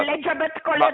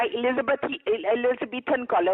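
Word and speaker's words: Elizabethan collar: एलिजाबेथ कॉलर नहीं होता, एलिजाबेथन कॉलर होता है, आपको तो प्रोनाउंस करना भी नहीं आता।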